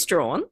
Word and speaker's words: Strachan: Strawn.